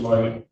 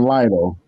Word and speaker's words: Lytle: Lighty. State your name for the record. Lytle. Give me the correct pronunciation. Yes, Lytle.